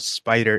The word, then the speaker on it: SPDR: I wrote into the rules team at Fantasy Flight Games saying, this is intended, SPDR, I think it's meant to be pronounced Spider, which I think it genuinely is.